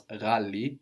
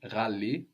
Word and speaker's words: ghali: The word for expensive was ghali, ghali. Ghali. G-H-A-L-I, ghali. Ghali. So this GH sound is pronounced like with a little throat friction, ra, but it's not very common in Swahili.